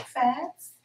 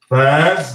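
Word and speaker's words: Phatz: Fats. Fats. That's spelled P-H-A-T-Z.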